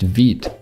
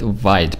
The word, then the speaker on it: Vite: take a look at veed it's the next tool on our list vid is developed by view creator evan yuk don't call it vid because they made an extra effort to put the